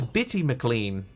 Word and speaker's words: Bitty McLean: diamond dust oh wait hang on heard the name wrong it's bitty McLean a British singer a pity wait there we